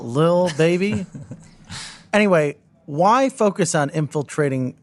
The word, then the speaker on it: Lil Baby: Paltrow, Jimmy Fallon, Diplo, Little Baby, I think is how you say that little, one. Little. It's the Lil, Lil. Lil Baby.